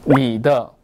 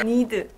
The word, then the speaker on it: need: Need 한번 발음해 주세요. 니더. 아니죠. 그 니더는 너의란 뜻이잖아요. 왜 중국어 하세요? Need. Need. 응, 그렇죠.